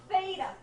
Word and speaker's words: theta: frog it's Theta like thick or thin I guess are two words that start with that sound right Theta okay so that's Theta